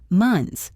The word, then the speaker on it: months: The word months ends in NTHS. That is a cluster of 4 consonants. It is very hard to say. So native speakers just say, months. It sounds like sons with an M.